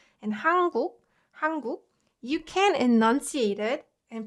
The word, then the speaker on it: 한국: But if you kind of listen closely, you'll notice that this one sounds like 한국. And it's much easier to pronounce it that way. 한국. So this 은 sound, when combined with k sound, So 은 softens to 응 when it meets k sound.